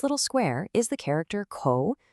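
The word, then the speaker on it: 口: This little square is the character co pronounced co.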